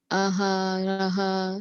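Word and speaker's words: आहारः: So here you did take cognizance of the fact that there's a H in the end and there's a H in the end with a dot. And that's why you said aharaha, and then you said priyaha, right?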